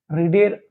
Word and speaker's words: read: এবার রিডের third form করো, রিড, রেড, রেড, spelling একই কিন্তু বাট the pronunciation is different, spelling is the same but the pronunciation is different. Present টেন্সে আমরা বলি কি রিড বলি আর ইএডি, প্রোনাউন্সিয়েশনটা হচ্ছে রিড, কিন্তু বাকি দুটো আমরা কি বলি রেড, রেড আর ইএডি, আর ইএডি একই বানান কিন্তু উচ্চারণ আলাদা।